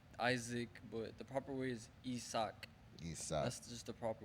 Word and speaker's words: Isack: And also, you could pronounce my name in any type of way you want, but the proper way is Isak. Isack. That's just for everyone, because people like to call me Isaac, but the proper way is Isak.